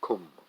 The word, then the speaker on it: Qum: There followed this thunderclap from Qum, that's spelled Q-U-M, and the thunderclap is coming from Khomeini.